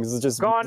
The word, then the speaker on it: Gaughan: Yeah, Brendan Gaughan, yeah. Alright, okay. Yeah, I was just wondering. Gaughan is in the word gone, yeah. That's how you pronounce his name.